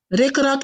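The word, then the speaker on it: ricrac: word again uh lorac rock rock can you spell that rick rock it's it's like r-i-c r-i-c r-i-c-r-a-c but you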